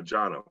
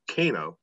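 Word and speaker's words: Cano: in ireland so it was jono it's actually pronounced uh jono jono um even though it's kano as i well said kano until i was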